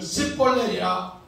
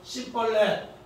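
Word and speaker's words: שיבולת: 내 곡식에 이사인데 십볼렛 여기 앞에 오는 시인인데 시인 발음을 뭐로 하는가? 쌈의 발음을 해요. 쌈의 우리 경상도 사람 쌀을 살로 하는 것처럼 이 사람들은 그렇게 해요.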